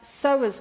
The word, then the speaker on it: psoas: remember I spoke about the psoas muscle and that's spelled Pierce away p-s-o-a-s so being in this position stretches off that so is muscle so you may get this pulling or